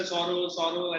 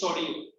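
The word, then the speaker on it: Sorrieu: Some people say Soro, as a Soro nahi hai. His name is Sorio.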